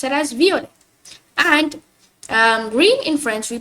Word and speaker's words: violet: So violet in French we pronounce it as violet, like violet, but I see people pronouncing it as violet, like violet, like just like in English, violet. But no, you gotta pronounce it as violet. Because why? Because the T becomes silent, so that's why we pronounce it as violet.